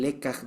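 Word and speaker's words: לקח: ¿Cómo se escribe leca? ¿Cómo suena? Con Q. Lekaj, con J. Leca. Lekaj, ajá, es la retentiva, lo que queda. Con J al Con último. J al último, lekaj. Eso está justamente en el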